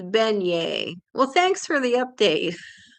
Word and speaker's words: beignet: And Timothy says it's it's pronounced beignet.